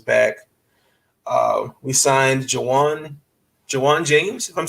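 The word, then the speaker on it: Ju'Wuan: camp uh everyone's back uh we signed juwan jawan james if i'm saying his name right did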